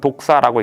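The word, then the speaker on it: δόξα: 요한이 영광이라는 단어를 썼는데 헬라어로는 독사라고 읽습니다.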